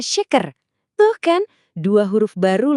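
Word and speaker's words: şeker: Huruf sy yang ada buntutnya ini bunyinya sama persis dengan she dikata syukur. Jadi shaker dibacanya shaker.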